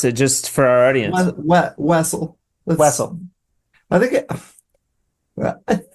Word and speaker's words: Wessel: Uh I've been called Wessle. Whistle. Whistle. Weasel. Russell. But Wessle works. Okay. How do you pronounce it? Just for our audience. Wessle.